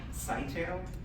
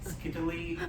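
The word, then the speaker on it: Scytale: It's called SkyTel. People have called it skittily.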